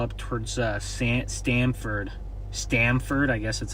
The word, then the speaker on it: Stamford: Stanford, I guess that's how you pronounce it. Sounds like Sounds like Stanford, but uh it's actually Stamford, but I'd love for